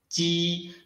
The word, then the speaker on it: ji: Try to produce ji by letting the air squeeze out between the surface of the tongue and the hard palate.